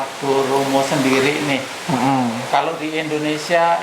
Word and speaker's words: goromo: Artinya Jadi kalau bahasa Jepang itu Goromo atau juga bisa dieja gitu, Koromo kadang gitu.